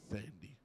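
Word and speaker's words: Thandie: That's how it's I think it's actually Thandy. Is it Thandy? I think so. Okay. I know there's an H in there. Yeah. It's how we pronounce T's and H's together. The Thandy.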